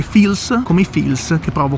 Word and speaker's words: Phil's: posto si chiama fials si scrive pil ma si legge fils come il film che